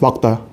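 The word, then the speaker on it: 맑다: 이 발음 뭘까요? 뭘 것 같아? 말달까요? 막달까요? 막다예요. 이거 어떻게 읽어? 이거 어떻게 읽어? 닭이지. 그래서 막다야.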